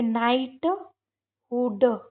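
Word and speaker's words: knighthood: तो यहां पर के साइलेंट और ये नाइट हुड नाइटहुड है ना?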